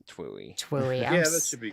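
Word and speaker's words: TWEWY: Pronounced Twooey.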